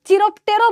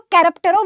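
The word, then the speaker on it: chiropterophily: तो हम कैरेप्टेरो ना बोलकर अपने स्कूल में चिरोप्टेरो बोलते थे। तो आप लोग कैरेप्टेरो बोलना। ठीक है? करेक्ट प्रोनाउंसिएशन यही होगा।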